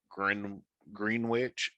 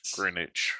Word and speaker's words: Greenwich: scenes with the dragon specifically um you don't pronounce the w in green green witch it's greenwich greenwich i was born in a rice field